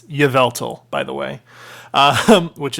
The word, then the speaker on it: Yveltal: was saying in that stuff like however i pronounced it's yveltal by the way um which is still one